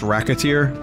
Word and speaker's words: Racketeer: It's pronounced Racketeer. Oh. Man, I haven't heard the name Reciteer, I mean Racketeer.